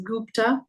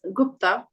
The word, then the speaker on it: Gupta: this is a common surname people tend to pronounce it as Gupta but it's Gupta Manoj shastri Manoj shastri sanj Sing sanj Sing